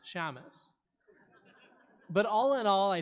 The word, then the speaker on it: Shamus: combined it into a name no one can pronounce, Shamus.